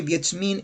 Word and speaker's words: Wiedźmin: By the way, Wiedźmin, it's Witcher, is how you pronounce Witcher in Polish, is the original term.